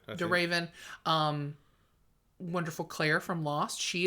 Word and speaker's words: Emily de Ravin: Yeah, it's Emily de Ravine. How do you ever say her name? De Raven.